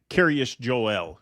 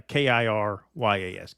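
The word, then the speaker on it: Kiryas Joel: Curious Joel. So it kind of sounds like Joel. It sounds like Right. curious, like Curious George, but it's curious. Right. Yeah, Kiryas.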